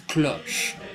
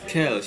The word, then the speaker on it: Kölsch: Klosch, I think it's pronounced. You're probably going to correct me. I think it was Kölsch.